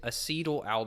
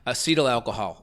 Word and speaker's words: acetaldehyde: I think how you pronounce I think how you pronounce it is acetaldehyde.